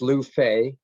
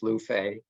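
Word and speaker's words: Lu Fei: write about sure uh his name is Lou Fay which I chose uh because I thought it would be easy to pronounce for people who haven't studied Chinese just just like it sounds luffey all right and he's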